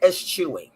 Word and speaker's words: eschewing: Okay, eschewing. That's how we pronounce that.